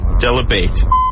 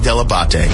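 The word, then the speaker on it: Dell'Abate: with John Heat is a heat and Gary Debate. I love when everyone pronounces it wrong. Hey, it's Jimmy Kimmel. You're listening to the wrap-up show with John Hine and Gary Deabate.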